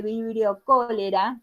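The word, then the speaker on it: Vibrio cholerae: muerte el vibrio cholera así se nombra por más que se escribe cholerae' se dice vibrio cholera que es la enfermedad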